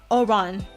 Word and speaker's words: Oran: I love going around My name pronounced like a Oran. Like a Oran, Aurora. Oran, like Aurora.